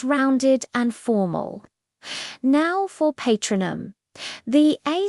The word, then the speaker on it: Patronum: Now for patronum, the A sound is like the A in father patronum. Notice the stress is on the second syllable tro.